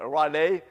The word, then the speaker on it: Raleigh: I never know how you pronounce the name of the town. For me, it's Raleigh.